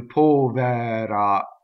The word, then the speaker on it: povera: The accent is on the first syllable. The E is closed. Povera.